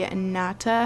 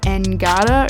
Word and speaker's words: Ngata: it was pronounced like angada or something but I guess the G is silent anyways this is actually